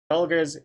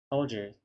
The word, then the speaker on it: Folgers: That's a hard G, isn't it? No, that's a soft G. That's a soft G. Folgers.